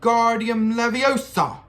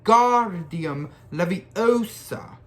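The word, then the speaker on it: Wingardium Leviosa: arms like a windmill you're saying it wrong harry heard a mighty snap it's when god diem leviosa make the guard nice and long you do it then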